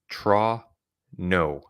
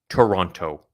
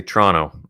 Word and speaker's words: Toronto: time zone as torono and that's how you pronounce it TR no Toronto Toronto Toronto not Toronto so if if you're ever having to use the the name of the city in a conversation again just say Tonto and people will be really impressed it'll sound